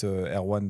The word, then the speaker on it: R1: pourquoi pas le Rabbit Air1 de l'époque. Air1. C'était Air1. le R1 du coup si tu prononces à la française, mais c'était boîtier en